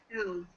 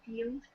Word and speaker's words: field: It kind of came out more like feld, but if you use like a long E sound, field, this is how we would say it Okay.